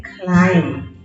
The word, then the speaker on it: climb: attention mb says oh yes the b makes no sound it is silent so mb says as a climb yes gn says as